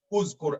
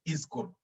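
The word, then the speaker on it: اذكر: When I bring the helper alif, I can always make it uzkur. I can't make it izkur. It has to be uzkur.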